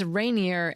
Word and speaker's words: Rainier: Or it's rainier at Mount Rainier in the fall.